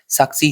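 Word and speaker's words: SASCI: किया है साक्षी scheme you can pronounce it एस ए एस सी आई साक्षी scheme ये किसके लिए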